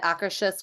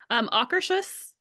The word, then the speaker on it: Akershus: And somebody, when we were getting seated, said the best way to remember how to say it is say it like soccer shoes. So like Akershus.